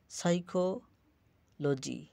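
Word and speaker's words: psychology: যদি পি সামনে থাকতো তাহলে যেমন সাইকোলজি পিটা উচ্চারিত হয় না।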